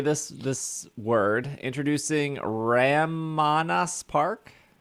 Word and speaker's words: Ramanas: Introducing Ramanas Park. How do you say it? Ramanas? Ramanas? Why Ramanas not? Park? Is it R-A, all A's? Ramana, like banana.